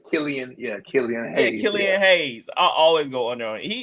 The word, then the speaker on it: Killian Hayes: I always go under on oh is it killan Hayes did I say his name right Killian yeah Killian hay Killian Hayes I always go under he he's a good